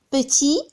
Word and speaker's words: petit: Petit, on ne prononce pas le T.